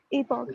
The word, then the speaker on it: epoch: एपक है या ईपॉक है? Okay ईपॉक।